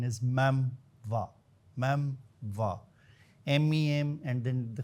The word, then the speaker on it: memoir: Mostly people will be thinking about the memoir or the me but actually the pronunciation is meva.